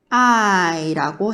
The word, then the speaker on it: eye: 눈은 EYE 써서 I라고 해요. I. E가 묵음이고 Y가 I 소리 나는 거예요. 그래서 I라고 합니다.